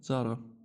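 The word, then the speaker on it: ز: And I told you, just remember Zara, the shop. Okay, the clothing shop. Um so, this one is za and this one is ra, okay? Za, ra. The one with a dot is za, za, zi, zu.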